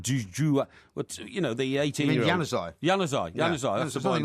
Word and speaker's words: Januzaj: unless you take the young boy up front, Zouane, is it? Zouane? Is it Zouane? The 18-year-old? You mean Januzaj?